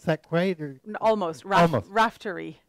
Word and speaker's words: Raftery: Did I pronounce that quite? Or? Almost. Almost. Raftery. Raftery.